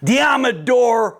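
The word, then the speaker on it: Deommodore: Deodor Lenor. It rhymes with Commodore.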